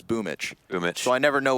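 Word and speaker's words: Boombl4: You know, because apparently a Boom BL4 is Boomich.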